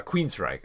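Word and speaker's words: Queensrÿche: Xiana says it's pronounced uh Queens Reich.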